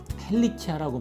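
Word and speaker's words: ἡλικία: 헬리키아라고 발음하는데요.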